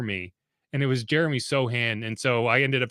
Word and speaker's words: Sochan: Because I had been in my head, I'd been saying Sochan, it's like a Chameleon type of deal, when you read it and that's how you learned it.